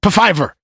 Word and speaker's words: Pfizer: How you say this? Pfizer. There you go. Pfizer expects to rake. The P is silent.